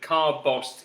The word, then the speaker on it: Carbost: Now, just to say that I was so unsure about the pronunciation that I checked this out. And forgive me that I don't have a Scottish accent, but Carbost is the pronunciation.